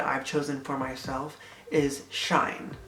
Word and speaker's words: Seaine: chosen for myself is Shine. So it's spelled S-E-A-I-N-E, and it's Shine. It's not C-N-A, it's not Scene, it's not Cheyenne, whatever kind of name you want to think, it's Shine. Like shine bright like a diamond.